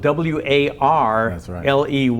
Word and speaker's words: Warley: Your name is actually spelled W-A-R-L-E-Y, but it's pronounced Warley. Yes, the R is silent. Okay.